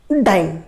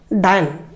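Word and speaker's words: dyne: आणि न्यूटनचं CGS युनिटला आपण म्हणतो डाइन. काय म्हणतो, डाइन. डाइननी डायन डाइन डाइन स्पेलिंग तुम्हाला लिहितो, तुम्ही त्याला डाइन म्हणा, डायन म्हणा, इन अकॉर्डिंग टू काही म्हणू शकता.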